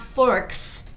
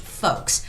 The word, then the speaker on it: folks: So it's not forks, but it's just folks. Just forget about the L sound, okay?